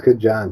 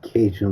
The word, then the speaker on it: Kajan: I think it's Kajan because he said Cajun wasn't the right way to say his name.